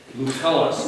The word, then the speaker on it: Lucullus: Lucullus. It's a hard C.